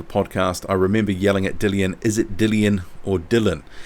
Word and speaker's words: Dillian: So BOP Boxing Observer Podcast, I remember yelling at Dillian, is it Dillian or Dylan? Yeah, I hear a lot of people saying it Dylan White, but I've heard him say Dillian, but yeah.